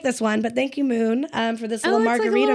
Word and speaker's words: Mxxn: a product that's called moon it's spelled mxxn but it's pronounced Moon yeah um and what's